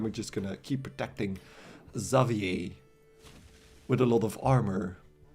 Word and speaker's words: Xavier: gonna start with the xavier xavier mohan which is like the french pronunciation of uh what the english like to call xavier but yeah zavier i